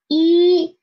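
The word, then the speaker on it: 一: just one horizontal and its pronunciation is e e it means one in chinese e e in next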